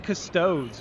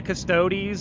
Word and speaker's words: Custodes: Dude, what is killing a Custodes, man? Is that, dude, first of all, by the way, when it comes to pronunciating a Custodes or Custodes, I've heard people say it 2 different ways, by the way.